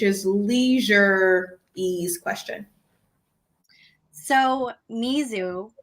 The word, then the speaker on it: mizu: come from which is leisure e's question so mizu spelled with the u so m-i-z-u is actually the